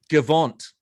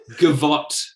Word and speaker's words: gavotte: You said it wrong. It's You leave him be. gavotte.